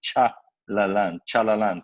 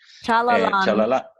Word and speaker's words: Chalalan: them the resource, but the name is Chalalan, phonetically. Chalalan.